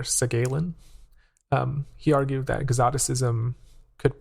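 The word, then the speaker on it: Segalen: In the early 20th century, French critic and also, I believe, writer, poet, Victor, I think it's pronounced Victor Segalin, he argued that exoticism could promote diversity.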